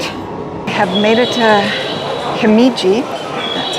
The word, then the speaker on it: Himeji: I have made it to Himeji. That's how you pronounce it.